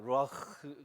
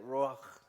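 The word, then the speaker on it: רוּחַ: 루아흐, 크와 히읗 발음과 키읔 발음을 잘 해야 돼요. 루아흐.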